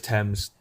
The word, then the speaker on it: Thames: It's Thames. Thames.